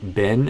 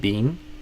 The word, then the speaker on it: been: And a lot of people don't even realize that Americans say it like been instead of bean.